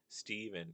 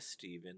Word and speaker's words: Stephen: well just say Stephen it's Steven not a Stephen there's no E at the beginning you idiot.